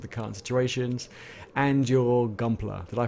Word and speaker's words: Gunpla: in terms of the current situations, and your Gumpler. Did I pronounce that right? That's correct. It's a mixture of Gundam and plastic. That's why Okay. Gunpla.